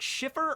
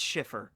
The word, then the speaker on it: Cifer: And by the way, is your last name, is it Schiffer or Cifer? It's Cifer. Oh, okay, so it's spelled with an SH. No, it's spelled with a C.